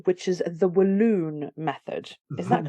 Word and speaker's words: Walloon: So let's talk about this method here, which is, I'm assuming I'm going to pronounce it correctly, which is the Walloon method. Is that correct? Walloon?